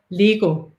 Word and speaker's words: Lego: all the other medicines we've been saying it wrong the whole time all of our lives in danish it's pronounced lego oh my goodness they